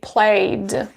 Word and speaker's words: played: When we have, for example, the word that finishes in a vowel, we will pronounce it as d. I mean, we will pronounce the ending ed as d. For example, we have the word play. And when you add ed, you would say played.